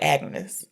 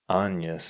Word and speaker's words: Agnes: So, because I saw the word Agnes, it sounded like Agnes. So, you're saying this? Say it. Anas.